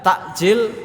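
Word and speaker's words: تأجيل: SAW bersabda laa yazaluna takjil pakainya Ain takjil menyegerakan sama-sama takjil tapi kalau pakainya Hamzah takjil pakainya Hamzah itu menunda bacanya hampir sama kalau dalam bahasa Indonesia takjil bahasa pakai air itu menyegerakan takjil pakainya Hamzah takjil maka menunda nah takjilul Fitri menyegerakan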